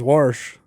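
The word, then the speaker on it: wash: My dad says warsh. Warsh? Yeah, there's an r in there.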